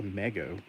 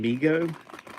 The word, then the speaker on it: Mego: What's a mego? You mean MIGO? Oh my gosh. Now that one you can't dispute because the owner of the company says MIGO and it was on.